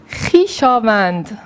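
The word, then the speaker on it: خویشاوند: Ya başka bir örnek yazacaksak Hişavend akraba demek. Bakınız arkadaşlar burada da hişaven akraba anlamını burada yine h arasında vav harfi geldi. Bu da okunmuyor.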